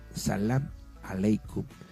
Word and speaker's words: Salam Aleikum: Bien, en relación a esta salutación de Salam Aleikum, porque realmente como se pronuncia, le reitero, es Salam Aleikum, significa que la paz sea contigo.